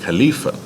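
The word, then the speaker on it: خليفة: calebs all right uh which in Arabic is pronounced Khalifa which where is that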